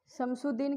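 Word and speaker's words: شمس الدین: यहां पर भी वही है शम शुद्दीन यहां पर अलिफ और लाम यहां भी दोनों साइलेंट है। ऐसे वाले नाम में ज्यादातर अलिफ और लाइम अलीिफ और लाम की आवाज गुप्त हो जाती है। वह नहीं आती है।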